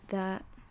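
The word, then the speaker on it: ثاء: of you and then the fourth letter is tha right like thermometer set right like thermometer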